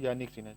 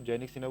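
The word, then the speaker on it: Jannik Sinner: तो ये है यानिक सिन्हा। इन्हीं को जैनिक सिन्हा बोला जाता है इंग्लिश में। ठीक, क्योंकि जे से शुरू होती है स्पेलिंग इनकी।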